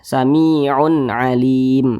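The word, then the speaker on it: سميع عليم: Maka cara membacanya dibaca jelas, tidak berdengung. Jadi baca pendek saja. Sami'un alim.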